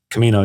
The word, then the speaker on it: Camino: You you you you've um uh done the the I can't remember how to pronounce. Is it the Camino? Camino.